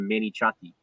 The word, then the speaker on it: manicotti: the the menu and she asked if they could have another mini chatty and she said it just like that and the cookie is like yeah listen to it on the mini chat yep that's what when before i knew i thought it was manicotti when i saw it on like we just read it yeah before nosy eat